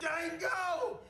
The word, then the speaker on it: Django: Django! You black son of a bitch! The D is silent here, baby.